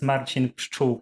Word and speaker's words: Marcin: correct you a bit because my name is marcin it's i'm from poland that's why it's uh quite confusing sometimes to pronounce it so i graduated from university of